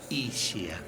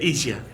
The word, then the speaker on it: Ischia: Y en pergamino se pronuncia Ischia, como lluvia. Claro. El único lugar del país donde se dice Ischia.